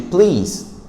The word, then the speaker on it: please: Esse som de P, T, Q, ele é um som mais soprado no inglês, quando você quer trazer a sua pronúncia para uma pronúncia mais fluente. Então, ao invés de falar simplesmente o please, que é muito comum, please, você fala please. Olha o ar saindo, ó. Please. Fala um som soprado.